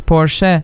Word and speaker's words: Porsche: And Catpoet said, "I'm right, because it's Porsche, it is German, and the E is pronounced."